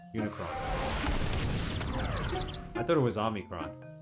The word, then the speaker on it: Unicron: that but it works Unicron there you go not omnicron Unicron I thought it was